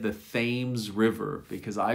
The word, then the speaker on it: Thames: now in in english th can also be a t sound in these particular words thomas thomas thailand thailand hello to everyone from thailand out there thames thames now the thames